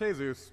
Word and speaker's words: Jesus: Isn't that right, Jesus? It's pronounced Jesus, and I don't know you.